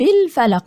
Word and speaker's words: الفلق: طيب الفلق همزة وصل تسقط وصلا، واللام قمرية مظهرة، همزة وصل تسقط وصلا، لكن عند البدء بيها أقول الفلق، لكن أنا هنا هوصل هقول برب الفلق، يعني مش هنطق همزة الوصل وهخش على طول على اللام اللي هي اللام القمرية.